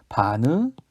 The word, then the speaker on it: 바느질: 어떻게 얘기합니까? 바늘질입니까? 바느질입니까? 바느질로 발음하고 실제로 표기도 바느질로 합니다.